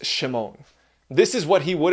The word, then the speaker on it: Shimon: Peter's given name is Simon, which in Aramaic probably would have been pronounced Shimon.